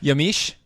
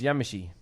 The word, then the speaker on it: Yamichi: And Yamish? No, it's Yamichi. It's Yamichi.